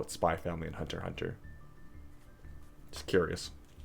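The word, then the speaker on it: Spy x Family: the Hunter x Hunter do you call it spyx family and Hunter x Hunter what do you call it spy family and Hunter Hunter just curious it's oh hey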